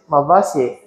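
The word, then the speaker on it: Malvaceae: If you are dealing with people from the America, they're going to pronounce it Malvasie. Malvasie. Pretty much the way we pronounce it here.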